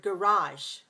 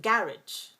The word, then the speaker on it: garage: but British pronounce it garage. So it's a different pronunciation and different stress. Do you hear the different stress pattern? In British English, we say garage. Garage, that's two syllables stress the first, 2-1, garage.